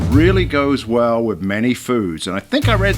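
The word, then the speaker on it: foeders: called food and that's spelt f-o-e-d-e-r-s but pronounced food look at that absolutely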